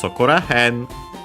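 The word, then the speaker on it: そこら辺: Okay, when added as a suffix, it seems that it actually makes the word unaccented. Okay, so perfect. So if that's the rule, then also here. So it becomes Sokora hen.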